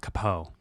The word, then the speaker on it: capo: k9 unit oh wow capo it's pronounced kapoe this is literally for